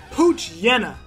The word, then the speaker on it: Poochyena: check it's the Poochyena a pooch dinna Poochyena that's how I pronounce it Poochyena all right we got one